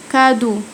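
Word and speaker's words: cadeau: الاي اي يو والاي يو بينطقوا او زي كادو كادو كادو نطقت الاي اي يو او معناها هديه كادو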